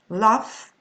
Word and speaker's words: laugh: But when they are at the end, they are pronounced f. Okay, laugh, rough, enough, cuff, tough.